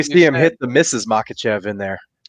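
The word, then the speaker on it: Makhachev: you something about him that might change your pronunciation, but go ahead. Uh, yeah, I know how to say it. It's Makachev and I think he dethrones him.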